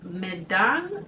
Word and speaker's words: Medan: And then last but not the least is Medan. That's how you pronounce it.